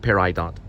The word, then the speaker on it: Peridot: several different ones peridot peridot llc is how you pronounce it pair i dot got it nailed it